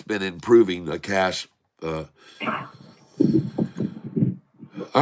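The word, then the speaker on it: cache: deleted my cash and I'm not sure if it's cash or cash can you do that phonetically for me is it deleting my cash or is it deleting my cach a because I really don't like I call it cach a they wouldn't have an e there if it wasn't they wouldn't spell it the same way someone says cash well there you go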